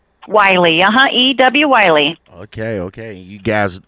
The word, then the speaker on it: Wylie: All right, so that's how I pronounce the name. Wylie, E.W.